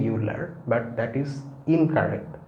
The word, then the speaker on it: Euler: and prolific mathematician although the the spelling is e-u-l-e-r but it's pronounced euler okay not euler many people wrongly say euler but that is incorrect it's euler and the